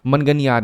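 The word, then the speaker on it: मांगणियार: Music tradition है जैसे मंगनियार जो आपको आई एम not like this is exactly इसका प्रोनाउंसिएशन आप करोगे तो इसको हम कहते हैं मंगनियार सॉरी। ठीक है? मनगनियार इनको कहते हैं।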